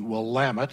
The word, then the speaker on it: Willamette: thousand population each and the Willamette and that's how you do pronounce it though while I'm at